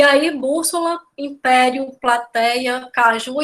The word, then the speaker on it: caju: aí bússola Império plateia Caju e Panamá né Se a gente for parar para perceber a palavra Caju gente não recebem acento É uma oxítona vai para assim o